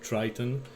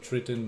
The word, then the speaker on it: Triton: of Triton some Americans I've heard pronounce it Triton uh some pronounce it Triton my English dictionary tells me Triton so I'll stick to that uh it's a